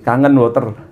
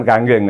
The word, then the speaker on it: Kangen Water: Dengan adanya sistem kredit syariah, insya Allah kangen water bacanya. Kalau saya masih orang Jawa saya baca kangen water. Kangen tuh rindu ya, bukan kanggeng ya.